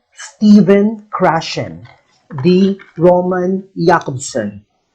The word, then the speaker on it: Jakobson: stephen krashen the roman jakobson it's pronounced jacob's son not jacob's son again this linguist is